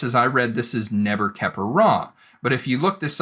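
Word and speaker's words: Nebkheperure: But the pronunciation is Neber-Keper-Ra, and the reason for this is because the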